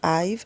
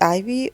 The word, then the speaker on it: IVE: I always have this, I know it's IVE, I know it's pronounced IVE, but I always struggle. I'm like, is it Ivy or IVE?